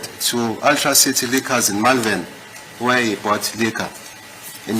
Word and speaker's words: Malvern: Because the What street is is the named pronunciation? after. Can I spell this? M-A, Yeah, fine. so, Malvern. so it's Malvern.